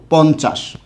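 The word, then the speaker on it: পঞ্চাশ: ইয় চ আকার তালব্য স, 50। কথা কি ক্লিয়ার? যেহেতু ইয় যুক্ত হয়েছে চয়ের পূর্বে, তাই ইয়ের উচ্চারণটা কি? নয়ের মতো। পূর্বে যুক্ত হলে নয়ের মতো।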